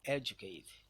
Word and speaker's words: educate: Comedian is stress on the penultimate syllable, and the one stress on an example of word stress on the antepenultimate syllable is the word educate.